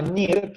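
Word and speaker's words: Neer: Acá me pregunta Daniela Chamorro, no, se llama NIR, se pronuncia NIR, pero es exacto, N-E-E-R, la doble E en inglés se pronuncia como una I.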